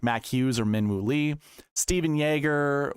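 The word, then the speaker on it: Stephan Jaeger: Steven Yeager, which a lot of people are calling Stefan, and Yager.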